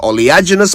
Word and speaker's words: oleaginous: Ignoring the doctor's warnings, Sarah served her man with an oleaginous plateful of fried plantain and beans. So there you go. One gorgeous English word, 2 ways to say it right.